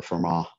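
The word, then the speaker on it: Fermat: when you when a lot of people hear vermont's theorem that's what they think about because that's the that's the most famous theorem of vermont or for ma sometimes they the t is silent okay we're going to do a different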